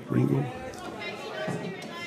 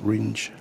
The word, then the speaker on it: Ringe: So it's Kate Ringle. Sorry, Kate. There's no L there. It's Kate Ringe.